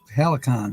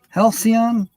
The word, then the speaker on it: Halcyon: say that it's h-a-l-c-y-o-m help me out Linda Helicon help me out no Helicon hell Halcyon h-a-l-c-y-o-n I've never I've always pronounced the Helicon but I never really looked